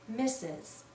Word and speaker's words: Mrs: the word mistress but we almost always read this as misses mrs is another title